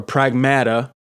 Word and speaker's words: Pragmata: Now, I came in there with the intention of getting Pragmata or Pragmata since that's how they pronounce it in the game.